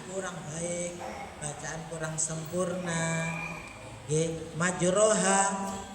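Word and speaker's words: مجراها: Majroha, kelintu membacanya tetap majroha, tidak dibaca majreha.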